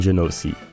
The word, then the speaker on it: Genoci: Hello, I'm Genoci. Yes, I pronounce my name wrong according to Google, but that's how I want to say it.